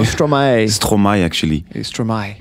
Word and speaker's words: Stromae: Stromae, not Stromae. Stromae, actually. Stromae. But it comes from maestro, yeah.